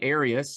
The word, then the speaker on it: Arius: Arius is the man whose teaching was under question